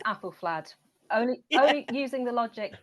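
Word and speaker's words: Æthelflæd: And I think it's apple flad only only using the logic that the ash symbol is the same in Alfred and Apple. And they've come down a so I say apple flad but you know tomato tomato.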